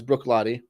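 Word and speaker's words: Bruichladdich: got is uh Brook lat which is not pronounced as it spelled Brook L not Brook L uh it's Brook LTI the classic LTI which is a scotch from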